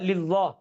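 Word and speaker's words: لله: சில பேருக்கு அந்த லாம் வராம லில்லாஹ், அல்ஹம்துலில்லாஹ் அப்படின்னுவாங்க. லில்லாஹில லில்லாஹி அந்த லாம் எக்ஸாக்ட்டா ப்ரொனவுன்ஸ் ஆகும். தெளிவான முறையில. லில்லாஹி, லில்லாஹி. 3வது இந்த இந்த ஹா இருக்கு.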